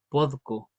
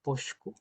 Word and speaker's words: podco: Originalmente es podco, podco, pero también la podemos llamar posco. Ambas son correctas.